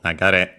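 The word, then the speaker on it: 流れ: Let's check its accent, because it could be, okay, no, it's actually regular, it's accented on the last syllable, nagare.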